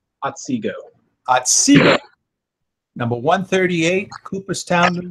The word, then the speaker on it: Otsego: Brother Tweedie was raised September 2016 in Otsego Lodge. I pronounce that right? Otsego.